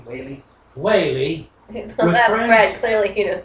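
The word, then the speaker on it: Whalley: Well, it's W H A L L E Y. Wall-ally Wally.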